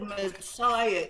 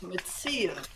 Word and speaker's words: Metzia: Bob said Messiah, it's Metzia. Metzia, yes.